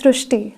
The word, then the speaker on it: Srusti: So in Marathi, the word Ri is pronounced as Ru. So that is why the pronunciation goes Srusti.